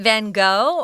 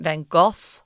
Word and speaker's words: Van Gogh: very famous artist Vincent van Gogh or Vincent van Gogh if you like that pronunciation if you say the van golf I think people will think you're a very serious person about arts maybe you've studied